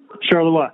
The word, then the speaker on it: Charleroi: Did I pronounce that correctly, Charleroi? Charleroi, yep, very good.